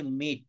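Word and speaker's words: meet: হুম হুম হুম হুম তারপর একটা হচ্ছে মিট। মিট মানে সাক্ষাৎ করে। মেট। মেট, ঠিক আছে। না, উচ্চারণ হচ্ছে মিট।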